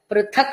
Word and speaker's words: పృథక్: విష్ణుర్ మహద్భూతం ప్రథభూతాన్య నేకశః పృథక్ అన్నప్పుడు మహాప్రాణ కారం పృథక్ భూత అన్నప్పుడు మహాప్రాణ భకారం ప్రథభూతాన్యనేకశః త్రీన్ లోకాన్ వ్యాప్య